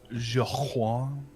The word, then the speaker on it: Joaquin: So Joaquin?